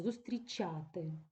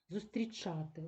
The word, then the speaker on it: зустрічати: під впливом південно-східного діалекту звук ч навіть перед наступними не я не ю не і вимовляється пом'якшено зустрічати зустрічати прийшли представники австрійськоїле ці не можемо так говорити це неправильно треба говорити чітко твердо зустрічати зустрічати зустрічати і зустрічати прийшли представники Австрійської делегації